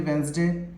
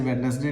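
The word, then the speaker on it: Wednesday: किसी तीसरे से पूछें या किसी से भी पूछ लें तो वही 7 दिन बताएगा, संडे मंडे ट्यूसडे वेंसडे। वैसे वेडनेसडे नहीं होता, इट्स प्रोनाउंस्ड एज वेंसडे।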